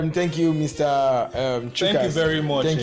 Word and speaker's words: Tchukas: We just pronounce it as Chukas, not TCHUKAS. The T is silent.